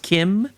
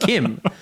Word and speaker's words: CHIM: order to achieve Chim, or how it's actually pronounced Kim. That I may not know English words, but I know fictional languages. It's pronounced Kim.